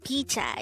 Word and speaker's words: 피자: first syllable is p second syllable is cha pronounced with me the korean word picha is actually the korean version of the common